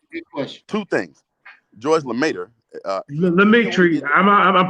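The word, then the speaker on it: Lemaître: George Lemaitre. Lemaitre, I'm pronouncing it right.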